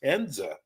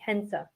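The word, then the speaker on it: Hinze: your name last time I just found out it's pronounced henza is that right that's correct it's uh it's German the e is a little deceiving it is um so the E is sounds more like an a hensa well all I know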